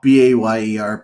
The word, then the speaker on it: Bayer: Isn't BAYER pronounced? How's that pronounced in German? Bayer. Bayer. That's what I thought. Bayer. Yeah, that's Bayer.